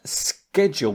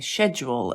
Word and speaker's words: schedule: According to them, they said that schedule with a K is the USA. Yeah, I think I remember growing up saying schedule and then at some point changing it to schedule.